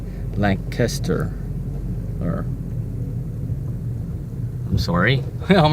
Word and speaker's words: Lancaster: Or Lancaster. There's no G in it. We pronounce it Lancaster. The C is pronounced as K, not a G. Or there's not a G added.